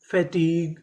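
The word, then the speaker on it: fatigue: Meaning क्या बनी colleague F ए फै टी आई T fatty ji यू ई ग फैटीग फैटीग तो चारों मीनिंग क्या बनी?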